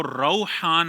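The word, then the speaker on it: Rauhan: है रहमत खुशबूदार फल वो रौहान है रा पर ज़बर है इसकी इंग्लिश में भी जो स्पेलिंग आएगी वो गालिबन आर ए यू एच ए एन आएगी रौहान तो इसकी स्पेलिंग और प्रोनाउंसिएशन का ख्याल रखना चाहिए।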